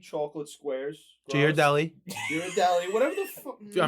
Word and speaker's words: Ghirardelli: So I got Giraldi chocolate squares. Ghirardelli.